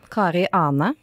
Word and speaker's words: Kari Ane: Kari Ane in Norwegian.